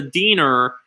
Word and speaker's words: Diener: At the morgue, actually, before we do this, I need to find out how to pronounce. Okay. Diener. Okay, here we go. Diener.